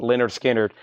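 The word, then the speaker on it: Lynyrd Skynyrd: 2 LP 45 RPM that is 64.99 and Leonard skinnard pronounced Leonard skinnard 64.99 Chad he the rush four albums of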